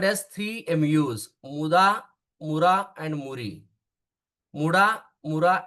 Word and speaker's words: muda: The word for the west in Japanese is called as muda or muda. Pronunciation is muda. So that is called as muda.